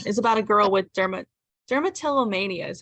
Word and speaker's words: dermatillomania: out Eaton, which is about a girl with dermatillomania is how you say it.